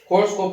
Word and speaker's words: Korotkoff: कोर्सकोप की स्पेलिंग है KOROTKOFF, T silent रहेगा, कोर्सकोप साउंड आएगा।